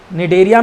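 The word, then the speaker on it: Cnidaria: निडेरिया में बेटा सी silent है।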